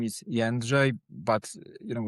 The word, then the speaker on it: Jędrzej: Well, my real name is Yanj, but you know, it's a Polish name.